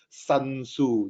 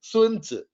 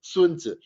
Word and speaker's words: Sun Tzu: they tried to quote him yeah they even pronounce him wrongly they say oh this fella by the name of sun tzu yeah so in case you do not know